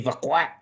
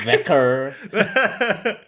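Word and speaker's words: Vaquer: It's Vqua. Thank you very much. Vqua. Not not V. Not veer.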